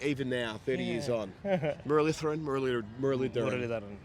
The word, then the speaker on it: Muralitharan: now, 30 years on, Muralitharan. Yeah, because that's I think some places they add the D. That's the right spelling because that's the way. If you pronounce it with the D, it makes life easier.